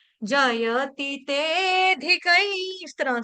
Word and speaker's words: जयति: अच्छा चलो देखो देखो जयति तेधिक जयति में ती जो है ह्रस्व है। य का उच्चारण स्पष्ट रूप से होना चाहिए।